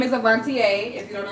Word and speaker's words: Avontea: My name is Avantier. If you don't know how to pronounce it, there you go.